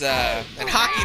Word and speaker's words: Haki: and head to foot hockey is hockey by the word is spelled H a K I okay so that's a